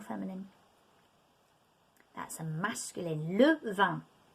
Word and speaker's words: vin: 20 sounds like the word for wine, but it's spelt differently. So if you have 20, it's spelt like that, 20.